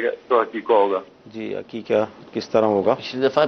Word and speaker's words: عقیقہ: سارے لوگ عقیقہ کو حقیقہ بولتے ہیں، ہاں سے بولتے ہیں، تو یہ ہاں سے حقیقہ نہیں ہے، عین سے ہے، عقن عین قاف، اس سے عقیقہ بنا ہے، ہاں نہیں ہے، تو یہ تلفظ غلط ہے، عقیقہ بولنا چاہیے۔ باقی تفصیل کے ساتھ